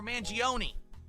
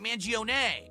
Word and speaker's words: Manion: Chuck Manion or Manioni or is it Manion? It's Manion. There you go.